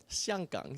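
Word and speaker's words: 香港: Xianggang is how you say it in Mandarin.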